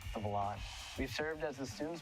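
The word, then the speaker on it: Volante: stands around campus and wondered hey what's the ball land well actually it's pronounced of a lot we've served as the student's voice since 1887.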